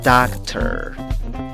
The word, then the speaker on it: doctor: sonido de la vocal schwa, la que no es ni A, ni E, ni O. Como cuando piensas y no sabes qué decir al hablar. Luego agregas el sonido de una R y ¿cómo pronuncias la palabra?